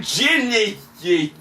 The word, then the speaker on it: Genisys: going to be Terminator Ginny ye which I refuse to pronounce this Genesis cuz it's not spelled correctly and shame on you